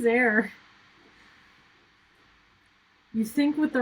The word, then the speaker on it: Zare: zaire's name was there I thought it was zare and so like in my head I've been pronouncing it Zara leonis for years and then to like actually watch the episode again and then they're like oh yeah it's there and I'm like pardon yeah I was like sorry no his name is there you sync with the